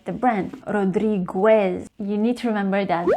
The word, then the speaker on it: Rodriguez: And the next one, if you're a fan of his perfume, Narciso Rodriguez. remember that is Narciso Rodriguez, not Narciso Rodriguez.